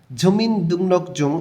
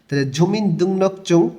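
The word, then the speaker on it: 주민등록증: গেছে তাদের পরিচয়পত্রটা আলাদা ঝুমিন দুমনক জুং এখানে ইয়ং বাচিমের পরে রিউল আছে এজন্য রটা এখানে ন উচ্চারণ করতে হবে আর গর পরে জ থাকার কারণটা চ উচ্চারণ করতে হবে এগ ভাসিমের একটা নিয়ম ঝুমিন দুনকচুং জাতীয় পরিচয়পত্র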